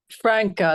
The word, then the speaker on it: Franca: Franca, like Frank.